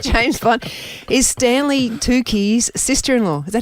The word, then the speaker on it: Tucci: Is Stanley Tucci's sister-in-law. Is that how you say his name? Oh, Mitch? Tucci.